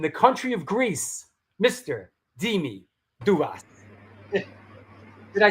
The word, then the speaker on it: Dimi Douvas: Dimi Douvas.